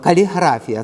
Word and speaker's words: каліграфія: від італійського гральний дім каліграфія чи каліграфія наголос Перепрошую саме на останнє наголоб каліграфія це походить від грецького